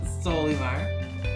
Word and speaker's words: Solymar: Yeah, or the Barcelo Notice I said it right that time. Solimar.